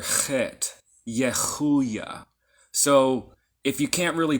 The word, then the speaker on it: Yehuiah: So, if you can't really pronounce it that way, you can say Yehuiah like an H. But technically it's the letter Chet, Yehuiah. It's kind of closer to a Ch, Yehuiah, or Yehuiah.